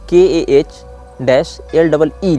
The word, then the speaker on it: Kali: गया है, लेकिन इसको जो प्रोनाउंस यहाँ लिखा गया वहाँ KAH-LEE लिखा गया है, मतलब कली में तो ह्रस्व ही होता है।